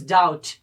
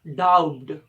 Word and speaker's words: doubt: This is a word which is doubt, not doubt. Because the letter B is silent in this word, and it's because there comes T after the letter B.